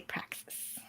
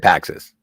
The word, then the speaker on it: Praxis: And meant to say Praxis. You're so mad about Praxis, you couldn't spell it right. No, but yeah, I was. I said Paxis, which I think is an antidepressant.